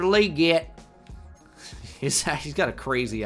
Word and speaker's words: Legette: I wish I could just pronounce it like Legette, but nope. Xavier Leette.